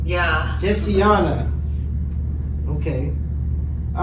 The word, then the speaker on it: Jessiana: Well, how you pronounce it? What was the nickname that you said? Jessiana? Jessiana. Yeah. Jessiana.